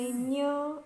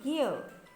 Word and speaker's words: ज्ञ: ये जो आप मराठी में उसे ञ ऐसा प्रोनाउंस करते हैं, लेकिन हिंदी में उसका प्रोनाउंस होना चाहिए ज्ञ।